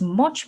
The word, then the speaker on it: mu: measure and then mu this is how we pronounce it mu here that's just going to be the true